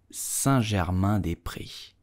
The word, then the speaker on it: Saint-Germain-des-Prés: So how do you pronounce correctly this place? You will say Saint-Germain-des-Prés.